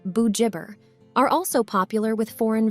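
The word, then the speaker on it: Bugibba: Paul's Bay, and Bogiba, pronounced Bujibber, are also popular with foreign visitors.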